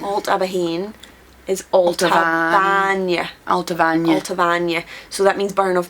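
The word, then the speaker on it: Allt-a-Bhainne: y Al abah Al abah is Al Al alavan so that means burn of milk alt is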